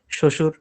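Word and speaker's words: শ্বশুর: বফলা যদি শুরুতে থাকে তাহলে উচ্চারণ হবে না। যদি মাঝখানে বা শেষে থাকে তখনই উচ্চারণ হবে। এবং যে বর্ণর সাথে থাকবে শুধু একবার না ওটা দুইবার উচ্চারণ হবে। কিন্তু শুরুতে থাকলে কোন উচ্চারণ হবে না। যেমন তক শুরুতে আছে বর কোন উচ্চারণ নাই। শশুর উচ্চারণ নাই।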